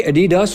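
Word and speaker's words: Adidas: और दोस्तों इसी तरह एडिडास नहीं होता बल्कि एडिडास होता है।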